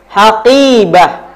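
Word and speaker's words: حقيبة: Haqibah. Haqibah. Haqibah. Nah, ini qafnya panjang ya, teman-teman. Qafnya panjang kenapa? Karena setelah huruf qaf ada huruf ya sukun dan huruf qaf berharokat kasrah. Jadi ya-nya ini ya mat.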